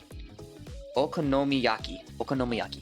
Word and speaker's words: okonomiyaki: Thank you for adding the pronunciation. You know I'm stupid. Okonomiyaki.